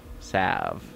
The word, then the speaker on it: salve: found a blue sea solve salve you don't pronounce the L music by Brian Kofi